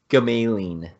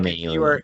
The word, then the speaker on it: Gamalian: My last name is Gamalian. Like Mailing. you're mailing something and you're mailing it twice. You're mailing It's kind of it's like Gamailing.